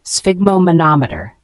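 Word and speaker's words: sphygmomanometer: a device used to measure blood pressure let's pronounce it together spigo monometer an alternative term could be blood pressure monitor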